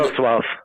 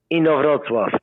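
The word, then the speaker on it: Inowrocław: I don't want to mispronounce the name of your town, but tell me one more time. Inowroclaw. What is it? Inowroclaw. Inowroclaw. I got to work on that. Inowroclaw.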